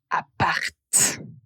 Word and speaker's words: appart: L'abbréviation c'est appart et on va clairement prononcer la lettre T.